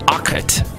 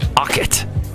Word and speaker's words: Ockett: His last name is Ockett. And yes, he's a computer guy with a name that sounds that technical. Ockett. You have to turn the Ockett to make it work. It rhymes with sprockets.